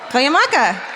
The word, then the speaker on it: Cuyamaca: Cuyamaca. Did you do it? I did. Nice. It's actually spelled like it said.